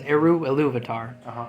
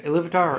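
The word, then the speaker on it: Ilúvatar: there's pretty much his name is Eru Iluvatar. That's how I pronounce it. There's other people who pronounce it differently. Either Iluvatar or Iluvatar.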